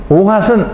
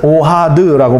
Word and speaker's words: 오하드: 오핫은 오하드라고 발음을 하는데요.